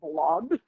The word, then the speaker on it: blob: But he actually I don't think he remembers the uh it's called the blob family. It's not spelled with it sounds like blood but it's actually blob.